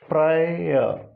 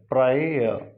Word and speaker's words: prior: Similarly, another two words, this is prior, final R is silent, prior, this diphthong is I, prior.